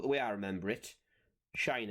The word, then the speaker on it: sinh: produce is one called hyperbolic sine of X pronounced shine of X and that's going to